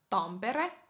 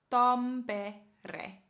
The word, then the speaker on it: Tampere: Okay, and then we have slightly north, about 1.5 to 2 hours north of Helsinki, we have Tampere. Tampere. Tampere.